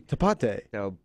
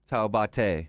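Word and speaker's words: Taubaté: to pronounce it it's it's t a u b a t e but there an accente on the E toate Tate yeah okay I think that was close a city in Brazil let's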